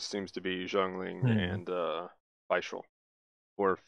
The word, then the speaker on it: Fischl: to be Zhongling and Fischl. Or Fischl, if that's how they say it in English. Oh yeah. I mean, I think the proper German way would probably be more of Fischl, but yeah.